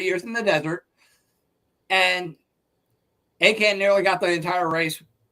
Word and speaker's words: Achan: I'm not sure exactly how it's pronounced. It's Achan. Achan.